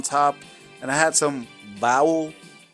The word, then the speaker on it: bao: And I had some bao. I think I pronounced it correctly. Bao. B-A-O.